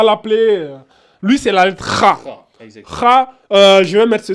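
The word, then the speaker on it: خ: lui, c'est la lettre Kha. Kha, je vais mettre ce symbole-là. K, H, avec un A grave. C'est juste pour vous dire, ça se prononce ici au niveau de la gorge. Ça fait Kha.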